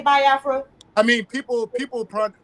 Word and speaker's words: Biafra: this this whole situation with the you say bafra am I saying it right I say bafra I mean people people PR you know a lot of people pronounce it both ways some people say uh